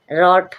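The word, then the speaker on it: wrote: बाद आर आएगा तो रोंग क्या होगा डब्ल्यू साइलेंट हो जाएगा डब्ल्यू का कोई साउंड साउंड नहीं आएगा। रोट रोट मींस काम किया हुआ या वर्क किया हुआ।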